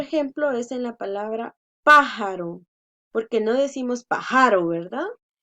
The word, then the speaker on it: pájaro: Otro ejemplo es en la palabra pájaro, porque no decimos pájaro, ¿verdad? Entonces, pájaro, pájaro. Última, penúltima, antepenúltima y va tildada.